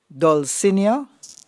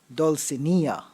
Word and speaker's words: Dulcinea: Your word is Dulcinea, can also be pronounced Dulcinea. Dulcinea or Dulcinea.